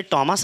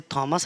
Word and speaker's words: Thomas: एक बार फिर से हम लोग डिस्कस करेंगे टॉमस हार्डी को। चाहो तो आप इसे टॉमस हार्डी, मन करे तो आप इसे थॉमस हार्डी, जो तुम्हारा मन करे वो तुम इसको प्रोनाउंसिएट कर सकते हो।